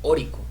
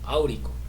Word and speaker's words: áurico: Este es oro, y no se dice auroso ni no se dice oroso ni órico, no, se dice auroso o áurico, ¿verdad?